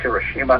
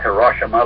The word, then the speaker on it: Hiroshima: Incidentally, that's pronounced Hiroshima, not Hiroshima, like the lamestream press likes to call it.